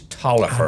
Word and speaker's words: Taliaferro: Excuse me, it is Taliaferro. I know I say it wrong all the time.